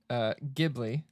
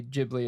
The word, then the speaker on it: Ghibli: ish to me so it is pronounced Ghibli okay people in Japan say Ghibli as well and no one is corrected it's technically both okay okay it's raishin Ross